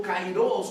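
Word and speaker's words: καιρός: La palabra tiempo significa, bueno, en el griego es kairos, ¿verdad? O kairos, con acento en la O, ¿verdad?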